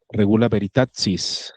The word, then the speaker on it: regula veritatis: Parece que en latín eclesiástico se pronuncia regula veritatis.